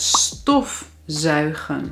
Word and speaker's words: stofzuigen: Bijvoorbeeld het werkwoord stofzuigen. De klemtoon ligt op stof.